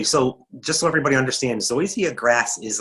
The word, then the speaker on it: zoysia: this word um linda says she has mostly zoysia grass you pronounced it perfectly i did it great awesome